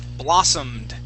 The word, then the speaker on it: blossomed: this word here is blossomed I can still say Okay blossomed good yeah so that o is going to make an a sound one more time blossomed